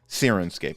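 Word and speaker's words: Syrinscape: Yes, Sirenscape. Sirenscape? Sirenscape is how you pronounce that.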